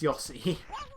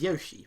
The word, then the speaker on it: Yoshi: is yossi even sorry in japan it's yossi it's not america america is yoshi but it's yossi so i imagine it's supposed